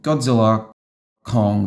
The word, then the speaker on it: Godzilla x Kong: from reading IMDb that the X is silent, so I guess I really went and saw Godzilla Kong: The New Empire.